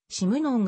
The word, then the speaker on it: シムノン: としている日本に紹介された当初は締めのんという名字の正確な発音が不明であり役者によっては締めのんと表記していたが 1956 年に君高太郎がシムノン本人に会ってシムノンが正しい発音である確認 1958 年の主体